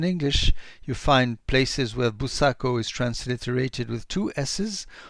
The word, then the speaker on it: Buçaco: I chose to depict Buçaco writing along the Portuguese way, as I did for Rolissa, which means it's a C with that special sign under it, which makes it pronounced as an S, because in English